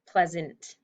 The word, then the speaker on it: pleasant: So over the A, we kind of need to mark it as that schwa sound, pleasant. We don't really hear it. Blends kind of into the next consonant.